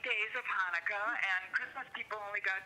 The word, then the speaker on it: Hanukkah: I mean, they pronounce it Chanukah. Chanukah. Yeah. Chanukah. It's Hanukkah, and the good thing